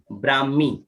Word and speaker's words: ब्राह्मी: हैं बहुत चलो उच्चारण करेंगे इसका कैसे करेंगे ब्राह्मी का उच्चारण नहीं आएगा उनका आएगा उच्चारण कैसे ब्राह्मण